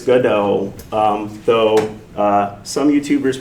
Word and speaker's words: Godot: And first thing it is pronounced goodo. Uh this this is a project of French origin. So it's not Merlot, it's Merllo. not Go Dot, it's GoDA. Um though, uh some YouTubers will call it GoDaddy, and I'm okay with that, too.